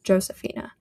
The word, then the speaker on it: Josefina: It makes the sound that an English H makes. So I knew I would read the word like Juan or Jose, but then when it's Josefina, all of a sudden I was like, ah yes, Josefina.